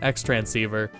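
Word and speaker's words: Xtransceiver: It's just transceiver with an X in front of it. X-transceiver.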